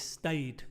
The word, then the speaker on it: stayed: Stayed, no es stayed, es stayed, stayed, sin otra sílaba.